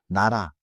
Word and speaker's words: 나라: Nara means country. The first sound is niel. Niel. In the middle, riel tap slightly. Nara.